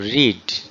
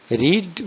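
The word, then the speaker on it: read: ওকে, এবারে আমাদের মূল ভার্ব রিড, তার থার্ড ফর্ম আমরা বসাবো। রিড ভার্বের থার্ড ফর্ম হলো রেড। বানান দেখো একই থাকবে, উচ্চারণটা একটু আলাদা হবে।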